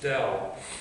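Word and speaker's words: ∇: cross something in this is this thing is pronounced del and it's the integral home is easier you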